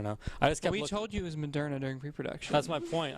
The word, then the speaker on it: Moderna: last three years because it's pronounced moderna no because no because